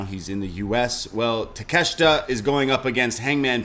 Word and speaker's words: Takeshita: I don't know how to pronounce his first name. Konosuke Takeshita? Takeshita.